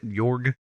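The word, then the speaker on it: Jörg: name is that oh there's an accent mark over the o it's it's the o with the umlaut uh york york yeah yorg okay i can't i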